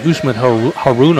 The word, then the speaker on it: Usman Haruna: I say Usman Haruna, I believe that's his way his name is pronounced.